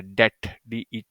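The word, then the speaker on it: debt: को देखा करें की बी इसमें साइलेंट होता है दे टी इसको हम ऐसे पढ़ते हैं काफी लोग इसमें बी को भी पढ़ जाते हैं उसको बी को खत्म वो क्या है साइलेंट होता है डेड इसको हम प्रोनाउंस करते हैं ठीक है रिमेंबर बिकॉज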